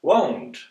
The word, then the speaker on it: won't: having a look and the negative contraction won't won't is pronounced as won't which might sound quite similar to won't when you desire something want as any desire is a short sound like a clock or a dock want I want ice cream